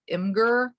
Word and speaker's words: Imgur: You guys might be familiar with Imgur, I think is how you pronounce it.